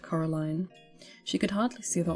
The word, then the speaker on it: Coraline: They get your name wrong, you know. They get saying Coraline. Not Caroline. Not Caroline at all.